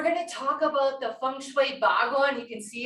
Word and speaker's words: feng shui: that means wind and water and it is pronounced feng shui and what the whole goal of feng shui